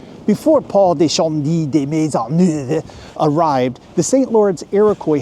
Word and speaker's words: Maisonneuve: Montreal was first settled by Europeans in 1642 when French settler Paul Le Chamond de Maisonneuve, and that's actually how you pronounce his name.